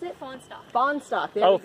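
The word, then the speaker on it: Fahnestock: How do you pronounce it? Fawnstock.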